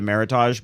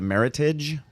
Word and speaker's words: Meritage: always called it a meritage but it's a meritage oh okay it's uh rhymes with heritage heritage okay uh-huh it's